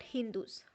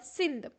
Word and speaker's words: Sindh: and Indians were called Hindus by the Muslims. The Muslims saw that the Indians lived on the other side of the river Sindh, and the Muslims pronounced Sindh as Hind.